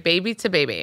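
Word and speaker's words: Baby2Baby: saying itong now you're saying it right okay baby to baby we had a moment and this this weekend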